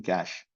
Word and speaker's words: cache: So you can just see c kh like pronunciation cache.